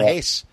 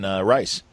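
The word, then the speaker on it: Reis: Ivan Hayes, I've learned, instead of Ivan Rice.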